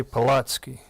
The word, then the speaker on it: Polatsky: Polatsky. Did I get that right? Yes. Well done. I'm better with Eastern Europe sometimes. Apologies. It's phonetic, just the way it's spelled.